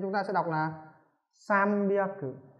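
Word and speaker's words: 三百: Nên chúng ta sẽ đọc là sambyaku, sambyaku.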